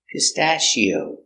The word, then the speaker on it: pistachio: so cliche do you think it's a cliche pronunciation stashio pit short a sound to the stat short pistachio Shield pistachio nuts pistachio notes are very healthy